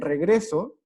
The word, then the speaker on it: regreso: cargar la voz porque el regreso la voz va a estar cargada en la segunda sílaba cierto entre regreso eso